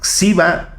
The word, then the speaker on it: Gxiba: El satélite se llama Xiba 1. Espero estarlo pronunciando bien porque se escribe con una G al principio. Es GXIBA. Xiba, desarrollado por la Universidad Popular Autónoma del Estado de Puebla, la UPAEP.